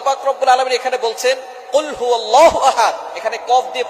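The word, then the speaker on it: قُلْ: অনেক বেশি কিন্তু আমরা অনেকেই সূরা এখলাস পড়ি কুলহু আল্লাহু আহাদ আল্লাহুস সামাদ ছোট্ট সূরা ফজিলত অনেক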